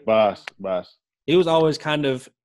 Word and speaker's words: Bas: I mean, I know that for a while that is it Boss or Bass? Is how you say it? Yeah, Boss.